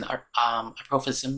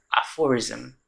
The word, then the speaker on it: aphorism: And we saw Jack using aprophisms. Is that aprophisms? Aprophism. The word? Oh, aphorism. How does it pronounce? Oh, no, how that thing is pronounced? Aphorism. Right.